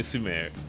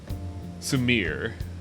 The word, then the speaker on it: Sumire: It's okay to just call me Sumire. Sumire. I'm never gonna get that name right. Sumire. Sumire. You sound 3 like syllables. You sound like Larry the Cable Guy every time you say it wrong.